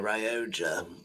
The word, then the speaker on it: Rioja: Might be a Rioja. Yes, that's how they pronounce it in Spain.